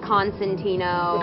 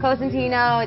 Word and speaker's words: Cosentino: How do people pronounce it in the States? Like Constantino Constantino. or Corsentino, Right. and then they spell it like Consentino, and like All right. they always fuck it up. So I was like, it's Cosentino, it's spelled this way, and then we were like, that's boring.